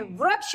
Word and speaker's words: वृक्ष: अब वृक्ष में व जो है, व के साथ अगर हम री की मात्रा का प्रयोग करेंगे तो इसके उच्चारण में भिन्नता आ जाएगी। अगर हम इसमें र की मात्रा, री की मात्रा नहीं लगाएंगे तो बन जाएगा वक्ष, जो एक गलत शब्द है।